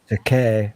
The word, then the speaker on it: Takei: Takei rhymes with toupee.